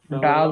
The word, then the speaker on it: die: ডাই না ডি, এখনো যদি ডাই বলেন তাহলে কেমন হইলো? ডি বলবেন, জি উচ্চারণ হলো ডি, নট ডাই। এই ডাই মানে হলো মরে যাওয়া। আপনি ইংলিশের মধ্যে এটা ঢুকিয়ে দিলে জার্মানের মধ্যে তো ডাই আনতে পারবেন না। ডি, ডি উচ্চারণ হবে ডি।